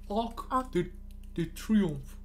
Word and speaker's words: Arc de Triomphe: We should probably try to find out how they pronounce. Let's see. Arc de Triomphe. Yep. Triomphe. Arc de Triomphe.